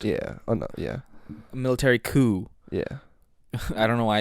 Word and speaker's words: coup: that's how pronounced it I don't think the p is um pronounced yeah yeah military coup yeah I don't know